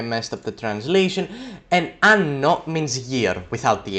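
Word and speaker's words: hanno: So in this situation we have anno and anno. They're pronounced the exact same way, but one is spelled with an H.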